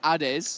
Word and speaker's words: Ade: Because in Italian it's Ade. Ade. I love it. Yes. Ade. So, Ade is the Italian name.